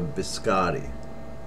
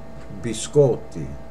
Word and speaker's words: biscotti: And I hear a lot of Americans say, can I have a biscotti? Incorrect. Biscotti. And that means cookies, plural. Biscotti. Not biscotti.